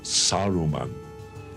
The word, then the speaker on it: Saruman: not again valve it's gunned of it is Saruman it is pay or don't not Theo death